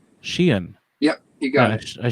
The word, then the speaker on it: Sheehan: You don't need to pronounce the H. Just Sheehan. Sheehan.